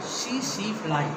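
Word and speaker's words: tsetse: One insect is found there, CC fly, TSE -TSE, CC fly. CC fly, T is silent here.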